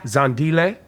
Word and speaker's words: Zandile: um your name I'm going to try to pronounce it uh Amala Amala perfect Amala rotna yeah okay yep that's pretty good yeah zandile yes uh gamini yeah that's good right yeah